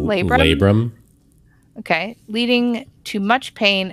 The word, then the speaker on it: labrum: me tear my how do you say that labrum labrum okay leading to much pain and eventually hip